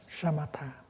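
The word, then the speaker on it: śamatha: with your body and buddhist term for for stopping is a shamatha in bali somewhat with this you pronounce like and the first meaning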